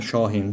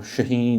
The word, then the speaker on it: Shahin: out in English, but his is actually the phonetic version, I'd say, the proper way of writing it or pronouncing it, Shahin. But we all say Shahin or Shaheen, or it doesn't really matter.